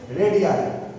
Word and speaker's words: रेडियाई: RADII, रेडियाई। इसको अलग अलग प्रोनाउंस करते हैं, कोई रेडियाई, कोई रेडी, कुछ भी बोलो, लेकिन ये रेडियाई है, ये रेडियस है।